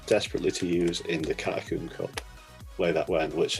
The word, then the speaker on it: Carracosta: Come on, it's Carracosta. Roll your R's. You gotta really, really kind of like throw it out there.